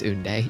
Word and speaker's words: Oonday: I keep telling people, like, if there was like a Koi soul that was like Mahjong soul level, so that's how you pronounce Oonday.